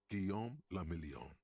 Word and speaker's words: Guillaume la Million: For Revachol, your city, that meant only one thing: Guillaume la Million. If it doesn't rhyme, you're not pronouncing it right.